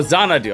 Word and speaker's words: Xanadu: Oh, Xanadu. Okay, thank you. Right, it was the X that threw me off. Okay, so Z, it's pronounced as Z, yeah, alright.